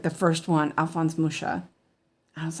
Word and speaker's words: Mucha: His name is Alphonse Mucha, and that's the French pronunciation. But if in Czech, he would be Mucha. So that was, but Mucha is more acceptable because he lived most of his life in France.